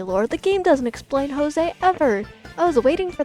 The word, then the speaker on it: Jose: just realized I know his name in the game is pronounced Josie I know but I've